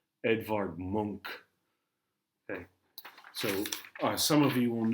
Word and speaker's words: Munch: I know it looks like Munch, but that's not how you say it. He's a Swede, so different pronunciation. Edvard Munch.